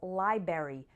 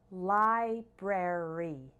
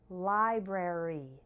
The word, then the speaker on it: library: next we have library some people mistakenly pronounce this library forgetting the BR in the middle but the correct pronunciation is ly rare e library library library the month of